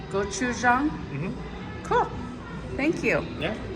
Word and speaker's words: gochujang: Okay, this is the newest Spam, and how do you pronounce that? Gochujang. Gochujang?